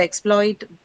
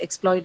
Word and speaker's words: exploit: And hence if the exploit the word exploit is used as a noun in a sentence, then it is going to be marked on the second syllable. So exploit, right? But if it's used as a noun then it's going to be exploit.